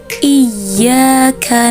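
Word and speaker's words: إياك: Cara membaca ya bertasydid ini dengan cara dinabar atau dihentakkan. Seperti ini cara bacanya. Iyyaka na'budu wa iyyaka nasta'in.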